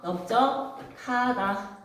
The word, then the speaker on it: 넓적하다: 둥글다, 죽하다, 적하다처럼 다른 어근이 붙으면 항상 여러분 어떻게 발음이 된다고요? 비읍으로 발음하셔야 됩니다. 그리고 된 소리 되기에 의해서 넓적하다. 넓적하다.